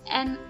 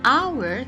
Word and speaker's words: hour: An hour, kita tidak baca hour, kita tidak baca huruf h, tapi kita baca antara h dan o, jadi a. So we say an hour.